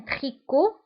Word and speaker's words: tricot: un tricot. فانتبهوا هنا tricot تكتب بالتي في آخر الكلمة ولكن لا ننطقها. donc un tricot لا ننطق تي.